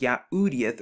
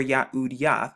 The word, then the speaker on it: Yahudyth: the thu to get yahoodith so when you put all of the six letters together you actually get the word yahoodieth or yahudiyat which of course they